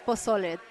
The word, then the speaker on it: pozole: It's pozole. 3 syllables.